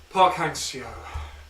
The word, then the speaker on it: Park Hang-seo: Get the pronunciation Park Hang-seo.